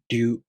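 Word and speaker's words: りゅ: To pronounce Ryu, the tongue moves from the D sound to the U vowel, Ryu.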